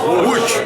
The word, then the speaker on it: Łódź: Wait, now I forgot how to pronounce it because I'm on camera. Łódź? Łódź, yeah, in Łódź.